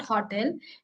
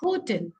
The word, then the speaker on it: hotel: It is not hotel. It is hotel.